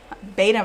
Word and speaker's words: beta: So, a beta is a male, beta male, like B-E-T-A, beta. And then betta is a fish, B-E-T-T-A.